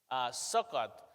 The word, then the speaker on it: Sukkot: So the background of this feast is the Feast of Tabernacles, or the Feast of Booths, Sukkot, as I believe it's pronounced in Hebrew.